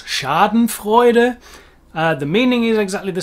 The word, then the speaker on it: Schadenfreude: into the brand names this one's difficult for me to pronounce in english but i'll give it a go schadenfreude the german being of course schadenfreude the meaning is exactly